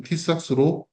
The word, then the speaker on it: TISAX: T수는 우선 trusted information secity exchange 말의 약재로서 정식 발음은 티싹스로 2025년 7월 달 ENX에서 공교했습니다.